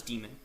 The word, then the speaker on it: daemon: In our next session, we're going to go over boot sequence, the systemd daemon, the systemd daemon, that's pronounced as daemon, the systemctl command, targets